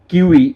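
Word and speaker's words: civis: তো যে বুঝতেছে না সিভিল সোসাইটি কাকে বলে এইজন্যই সিভিল 17 সিভিল মানে হচ্ছে শহরে কিউই কিউই বলে লেটিন ভাষায় তার মানে সিভি করে উচ্চারণ তার মানে হচ্ছে শহর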